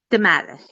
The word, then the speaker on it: DeMattis: Can you spell It's that? DIM as in Mary, ATTIES. DeMattis? DeMattis, yes.